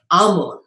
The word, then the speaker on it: Amu: So this word Amu is often what is used instead of Amun. Okay, so they drop the N, Amu, that's how they say it.